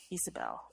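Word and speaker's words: Ysabel: Although personally, I would pronounce that Isabel. Isabel. It starts with the Y. Starts with the Y, Isabel.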